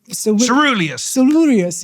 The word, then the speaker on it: coeruleus: Coeruleus, yes, exactly. Your pronunciation is brilliant.